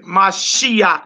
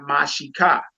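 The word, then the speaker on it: משיח: What Mashiach means, sis? Messiah. Our Yeah. Savior. Long live the King. Right. So you notice we say Mashiach and not Mashika.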